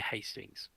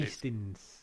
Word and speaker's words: Hastings: the South East yes near Hastings or Hastings as asting locally pronounced yeah we we we've